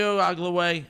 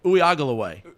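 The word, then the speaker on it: Uiagalelei: I don't think one of those syllables was right. He got the end. He got the end right. Well, there's so many different Uiagalaway.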